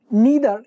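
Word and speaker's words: neither: নিদার, এটাকে নিদার বা নাইদার দুটো উচ্চারণই করা যায়, দুটোই সঠিক।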